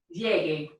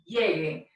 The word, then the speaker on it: llegue: Now we have our formal usted command, and the affirmative one, for the verb llegar, which is a GAR verb, and it's pronounced llegue, llegue.